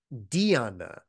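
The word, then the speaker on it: dhyāna: poly word it becomes this Sanskrit word Diana with like a d a hard D and Di has slightly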